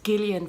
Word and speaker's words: Gillian: It's Gillian Flynn, not Gillian Flynn.